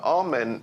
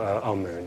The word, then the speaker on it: Amun: Now, Amen is the pronunciation that the Hebrews give it, and some scholars agree to use that pronunciation. Amun is the pronunciation given to it by one of the old European scholars, Plutarch.